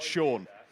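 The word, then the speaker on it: Sion: It's spelled S-I-O-N, but it's pronounced Sean.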